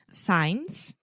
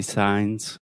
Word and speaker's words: signs: don't know why about science right is that how you say it you could say signs signs also work for